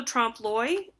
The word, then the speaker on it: trompe-l'oeil: There's also trompe-l'oeil. That's this word right here. There's not really an L. It's a weird pronunciation.